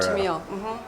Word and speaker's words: Tamil: organizations, one of them being the TRO, the Tennille, or I don't know how you would pronounce it, but Tennille reorganization. The Tamil Tigers? Is that? Yes. That's okay. So that's the TRO. Tamil.